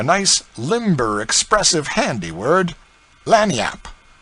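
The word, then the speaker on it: lagniappe: A nice limber, expressive, handy word, lanyap. They pronounce it Lanni yap.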